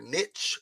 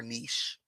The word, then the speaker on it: niche: Pronunciation of niche can be either niche or niche.